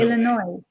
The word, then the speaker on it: Illinois: Illinois. I'll tell you what, Illinois, another interesting state name, Illinois. Who thought of Don't that? say the S. You don't say the S. Yeah, you say Illinois.